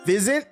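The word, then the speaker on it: Physint: Fizzant. It's It's pronounced fizzant.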